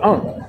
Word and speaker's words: ankh: It's pronounced ankh, and it is a fertility for the female.